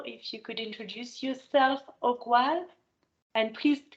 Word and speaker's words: Ogwal: And now someone I don't know, if you could introduce yourself, Ogwal. And please correct me if I'm mispronouncing your name.